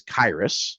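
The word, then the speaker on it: Khyiris: And I just want to point out that it is Kyus. It's like Iris with a K.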